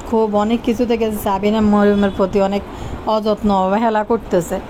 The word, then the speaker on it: মরিয়ম: তো আসলে নাম যে কিতা আমি নিজেও জানি না, কতক্ষণ সারিকা, কতক্ষণ কতক্ষণ ময়রম, কিন্তু মরিয়ম শব্দটা উচ্চারণ কারো মুখ থেকে একবারও শুনি নাই, ময়ম।